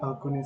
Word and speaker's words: Axone: So your experience while making Akon, sir. Am I pronouncing it right?